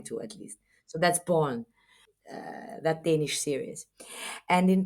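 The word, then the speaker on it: Borgen: is a series called Bor born in in in in Danish so ban that's how you spell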